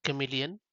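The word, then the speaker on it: CM3leon: on the image generator which is pronounced as chameleon more than likely so all of the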